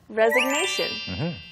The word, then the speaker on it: resignation: and that word is resignation. Resignation. 어떤 부분이 중요하죠? The G. 아, G. The G. 네. It's very short. 네, 짧아요.